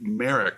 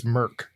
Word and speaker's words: Merck: I'll give you half points because you're really close, but it's Merck. MERCK.